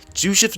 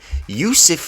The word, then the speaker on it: Jusuf: First of all, you don't pronounce the J in his name. Second of all, I tried to pronounce it as a G. Jusuf. What am I saying? Jusuf Nurkic, because I know